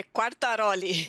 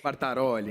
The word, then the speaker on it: Quartaroli: Quase, é Quartaroli. Quartaroli, então, perdão.